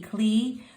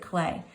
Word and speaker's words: Klee: learning about paul clay it's pronounced clay even though it's spelled k-l-e-e clee but we pronounce it clay all right so today